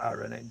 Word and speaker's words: Aaron: It's spelled Aaron, A-A-R-O-N, but he pronounces it with more of an E sound. Aaron. Not Aaron, not Aaron, but more of an Aaron, as far as I can hear it.